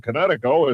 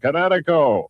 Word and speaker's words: Kinetico: You should have remembered kinetic as in kinetic energy with an O on the end. Kinetico.